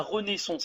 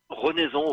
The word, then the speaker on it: Renaison: L'élégance cabaret à Renaissance, c'est ça? Je l'ai bien prononcé? Renaison, oui, c'est juste à côté Renaison.